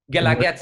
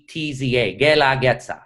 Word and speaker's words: Guelaguetza: Guelaguetza. I'll spell it out. Guela, Guetza. Guelaguetza.